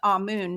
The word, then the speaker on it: Amun: name is a-m-u-n and it's pronounced ah Moon not amane two different pronunciations two